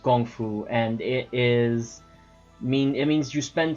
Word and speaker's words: kung fu: Kung Fu or it's traditionally pronounced Gong Fu, and it means you